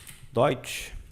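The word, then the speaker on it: Deutsch: colocar a pronúncia da palavra dot aqui ó doit que significa Alemão se pronuncia assim doid tá as letras e um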